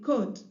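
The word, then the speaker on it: could: u l d wood remember to tell the child that letter L in those three words is silent so they are not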